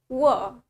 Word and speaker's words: were: In British English, karena R-nya tidak terlalu jelas, we pronounce it as were.